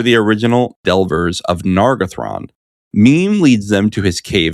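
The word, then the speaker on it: Mîm: Meme. Is that how you pronounce it?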